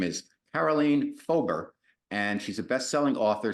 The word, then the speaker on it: Karoleen Fober: your life so welcome to guys guys radio carolene fober is it is that did I pronounce that correctly it's perfect yes thank you